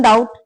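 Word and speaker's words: doubt: ही इज इन डाउट। उसे संदेह है या संदेह में है। तीसरा ही इज इन डाउट। इसमें बी बेटा साइलेंट रहेगा।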